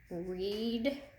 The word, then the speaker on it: reader: We've got an E in both syllables, so you need to listen closely to what sound these E's make, okay? Reader, reader. We definitely hear the long E in that first syllable.